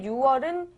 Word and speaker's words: 6월: 6 일입니다 할 때 처음에 6월은 육이 아니라 유로 발음을 했고요 뒤에 6일은 그냥 6일